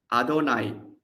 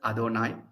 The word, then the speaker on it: Adonai: Adonai, it is written as Yahweh, but is pronounced as Adonai because the Jews don't take the name of God in vain.